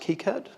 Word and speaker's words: KiCad: has pronounced kicad I read online that it's pronounced kicad and that's it must be true up until yesterday I've always pronounced it as head I'm going to try hard to say kicad rather than lead you guys down the wrong